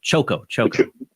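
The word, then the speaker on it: Chocó: How do you say the name of Choco?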